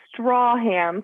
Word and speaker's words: Stracham: your last name uh straw ham so it's like a straw you drink from ham you eat i wouldn't look nothing